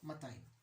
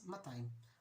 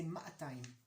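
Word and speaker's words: מאתיים: 200 is matayim. But in Jerusalem, we like to lengthen the vowels a little bit. So we don't say matayim, we say ma'atayim.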